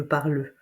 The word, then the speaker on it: parle: je, comme les Français quand ils disent je parle, parle. On ne prononce pas le e à la fin. C'est pas je parle, je parle.